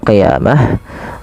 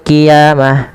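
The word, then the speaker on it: القيامة: ini bukan ki ya, hati-hati dalam melafalkan qaf, jangan diganti dengan huruf kaf. Jangan wa yaumal qiyamah, nanti jadi huruf kaf. Dia adalah huruf qaf ya, lebih tebal hurufnya, dan dia sifatnya sifat isti'la, pangkal lidahnya terangkat.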